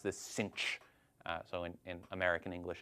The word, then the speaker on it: sinh: we usually pronounce this cinch. So in American English, as if there were an extra C in there, cinch.